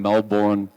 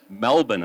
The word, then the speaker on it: Melbourne: I'm from Melbourne, or the Americans say it, Melbourne, Australia, but I'm from Melbourne, Australia.